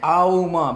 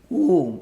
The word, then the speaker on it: Om: Because you don't chant Auma, but you pronounce only Om, only one sound.